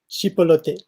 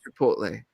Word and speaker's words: Chipotle: Chipolote. No. How do you say it? Chipolote? Say it again. Oh, Chipotle.